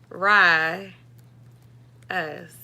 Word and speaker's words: Azarius: Wait, it's not re though, it's rye, like rye bread. Like, is it like this? Rye us.